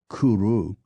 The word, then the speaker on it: cwrw: simply OA against this the Welsh pronunciation of cwrw Kuru begins to look positively